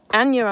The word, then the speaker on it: Anja: Sorry, at one point I did pronounce the J because I wasn't quite sure. Anja understands every single word I say.